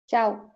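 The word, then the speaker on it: ciao: প্রথমটার উচ্চারণ চাও।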